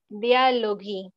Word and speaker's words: dialoghi: Entonces, como podemos observar, aquí es una combinación GH. Recuerden que esto se pronuncia como gui, así como guerra y guitarra. En italiano tenemos la GH para poder hacer ese sonido.